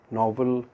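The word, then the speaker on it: novella: और से सुनिए इसको, नोवेलेट या नोवेला। नोवेला है इटालियन लैंग्वेज का वर्ड।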